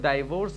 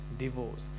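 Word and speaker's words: divorce: इसको लोग डाइवोर्स भी पढ़ता है, बट the real pronunciation is डिवोर्स।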